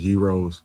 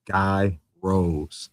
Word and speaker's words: gyros: Oh, and by the way, like even though like it's pronounced gyros, Chicagoans we call them Guy Rose.